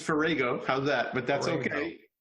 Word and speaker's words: Farrago: the show dr ferrago yeah actually it's ferrago how's that but that's